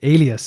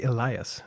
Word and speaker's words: alias: Ally Alias yes Alias I always say Elias um how how can I remember what how to pronounce it correctly I always think of alien because for me it looks really similar the word alien Alias you know does that